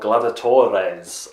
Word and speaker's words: Gladiatores: of a game called Glover Torres I think that's how you say it's like gladiator with an unnecessary I yes on the end anyway it's a gladiatorial